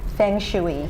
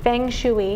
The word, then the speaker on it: feng shui: English way feng shui yeah be a baby it's spelled f ing right space s Feng shooey Feng shooey yeah yeah so as part of that like